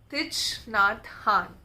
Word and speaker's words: Thich Nhat Hanh: It's by, that's how you pronounce his name, Thich Nhat Hanh.